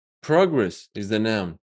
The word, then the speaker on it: progress: Well, record is the noun. Record is the verb. Progress is the noun. Progress is the verb.